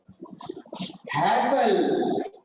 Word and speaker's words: Haeckel: यहाँ पे अर्नस्ट क्या है, हैकेल है, स्पेलिंग चेंज है, HAECKEL, है ना, इन्होंने दिया था, अर्नस्ट हैकेल ने थ्री किंगडम क्लासिफिकेशन दिया था इन 1866।